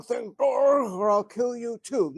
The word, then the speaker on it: Torg: I said, Dorg, like that. He says, okay, okie doke, he says, okay. So blah, blah, blah, this stuff happens, and he swings around, he says, say the wrong thing, Dorg, or I'll kill you too.